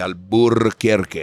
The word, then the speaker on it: Albuquerque: And it's called Festival Flamenco de Albuquerque. I emphasize that R just to piss everybody off who's happy that we took it out so they could pronounce it easily.